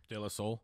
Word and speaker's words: De La Soul: De La Soul.